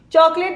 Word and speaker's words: chocolate: Chocolate, the vowel sounds are created by O, O and A. The E at the end is silent.